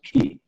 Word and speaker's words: Chi: does suck it this is other way to pronounce Chi by the way is key well so whether he